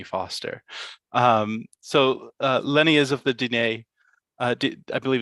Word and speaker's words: Diné: Lenny is of the Diné. I believe it's Diné. Is that the correct Mhm.